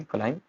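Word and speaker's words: climb: Next है एम बी, B silent हो जा रहा है जब एम बी इकट्ठे आएंगे, लैम, थम, क्लाइम एंड मॉम।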